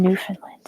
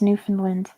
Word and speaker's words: Newfoundland: It's just pronounced Newfoundland. It's a British thing.